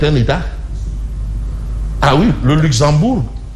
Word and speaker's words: Luxembourg: état ah oui le Luxembourg bon on ne prononce pas le G sinon le professeur pas